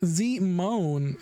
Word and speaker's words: Simon: Pronounced Zimone.